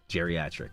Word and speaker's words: geriatric: Soft G. So geriatric. Yeah, geriatric. It's like Jerry.